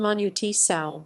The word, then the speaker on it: Manu Chao: Manu Chao, Galician pronunciation Manu Chao, born José-Manuel Thomas Arthur Chao, 21 June 1961, is a French-Spanish singer.